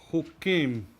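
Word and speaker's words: חוקים: It pronounced hukim.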